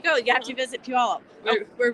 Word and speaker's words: Puyallup: don't like my explanation you say pew like it smells and up oh yes there you